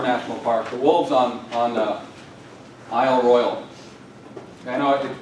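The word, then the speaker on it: Isle Royale: you're a sophisticated person, you ought to say Ile Royale. And some people in my family still insist on saying that, but normal people just say Isle Royal.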